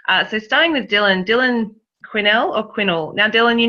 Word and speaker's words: Quinnell: with our emails backwards and forwards about the pronunciation of your name. Quinnell? Quinnell.